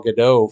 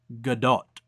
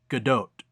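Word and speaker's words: Gadot: is good doe and you do hit the T at the end but I know I'm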